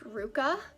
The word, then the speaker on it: RVCA: just gonna say rvca she says it's pronounced ruka but uh i'll just say ruka i guess so this